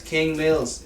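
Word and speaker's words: KXNG Mills: King Mills.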